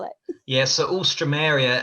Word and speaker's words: Alstroemeria: spell it yeah so all stromeria everyone misses out the e between the o and the m so it's